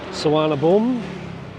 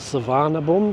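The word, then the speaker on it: Suvarnabhumi: has a v but Asian and Thai pronounce the v as a w and it has an eye on the end so something people call it savan Boomie or saana Boomie saana boom so you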